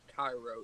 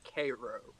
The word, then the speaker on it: Cairo: will have you know that that is not pronounced Tyro it is Cairo same it's Cairo it's Cairo like is this